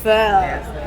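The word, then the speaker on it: phở: how to pronounce it is it fur oh it's F fur yeah like that I love your Seafood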